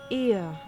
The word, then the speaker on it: Ea: When the vibration of vocal folds was still required to convey our thoughts and intention, ear I believe was the pronunciation used when referring to our people.